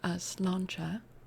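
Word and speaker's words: sláinte: Opericia slanchcha that our tax is saying is like the Irish way to say cheers.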